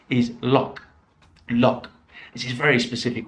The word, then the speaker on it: loch: it's one of the the nine ways of pronouncing the ou g h is loch lok this is a very specific word it basically